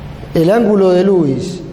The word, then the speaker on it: Louis: técnica se conoce como técnica de lewis que también se pronuncia louis pero lo decimos así para no confundir una línea horizontal que